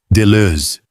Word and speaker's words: Deleuze: Deleuze. Deleuze, com aquela vogal que não temos, algo entre E e O, com os lábios arredondados.